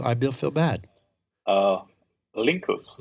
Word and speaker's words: Linckus: forget it all I will feel bad uh lincus Linkus that's right Linkus that actually sounds yes